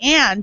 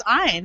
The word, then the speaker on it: Ayn: Although we say Ann in our family, we just pronounce it Ann, but it's Ayn.